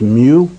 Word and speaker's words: mu: symbol you see over there is mu it's pronounced mu and then moliro familiar with that's one thousandth and then there's a st.